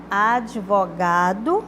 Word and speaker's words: advogado: advogado chamei né então a pronúncia Advogado não é o de mudo não advogado como tá escrito ali na letra de como